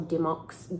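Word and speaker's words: Dymocks: I think it's pronounced Dimmick or Dimox gift card.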